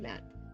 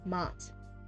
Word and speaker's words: Mott: Mott. Mott rhymes with bot. Mott and bot.